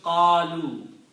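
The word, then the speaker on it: قالوا: So if I put the waw and alif at the end, alif is not pronounced. This becomes qalu.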